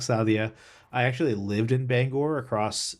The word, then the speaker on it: Bangor: And when I first went up there, I pronounced it as Bangor, which is a lot of people pronounce it that way. And the first thing that they tell you is, no, it's Bangor.